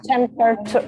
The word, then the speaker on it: temperature: Temperature. I can. that's a good one. That's a good temperature. Temperature. Temperature. Temperature. So the ra is important.